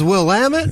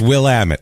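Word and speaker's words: Willamette: That's Will Ammit. It's it's it's it's Will Ammit is what it is.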